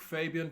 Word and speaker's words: Faibian: My Snapchat is actually Fabian, but it's spelled Faibian.